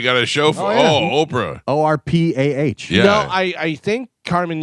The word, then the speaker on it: Orpah: says Orpa. she shifted to Oprah because mispronunciation by others as she was growing up.